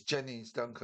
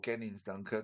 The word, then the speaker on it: Gennings Dunker: One who's moved up from 11 in my October list to number 5 now is Jennings Dunker, or Gennings Dunker, depending which way you want to pronounce it.